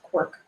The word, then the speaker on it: CWRC: uh mentioned uh so the Canadian writing research collaboratory cwrc we pronounce Quirk um and it aims